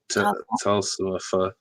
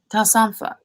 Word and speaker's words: Talsomfa: Hey, Talsomfa, is that how you pronounce it? Yeah. Talsomfa. Talsomfa.